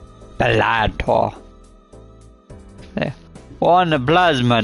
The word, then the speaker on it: Balatro: and welcome to Balatro. My bad. I didn't pronounce it right. Balatro.